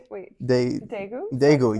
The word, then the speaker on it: Daegu: So do you remember your first day in, I'm going to pronounce it wrong, Daegu, South Korea? No? Okay. Daegu, yes, sorry.